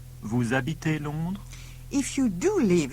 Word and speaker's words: habitez: You say, vous habitez Londres? With E spelt E-Z, but pronounced A on the end. Vous habitez Londres?